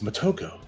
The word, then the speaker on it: Mako: me I love Mato I don't pronounce her name like in the liveaction movie even though like I I thought half of that movie was was pretty good half of it was kind of but they pronounced her name Moto and it just irritated the crap out of me it like it's it's Mako all right Ken Ken